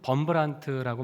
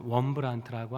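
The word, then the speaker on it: Wurmbrand: 아 우리나라에는 범브란트라고 많이 알려졌었는데요. 이분이 루마니아뿐인데 원래 발음은 원브란트라고 합니다.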